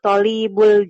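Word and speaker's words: طالب: Nah, kalau tolib Ya. to-nya yang panjang. Ada alif.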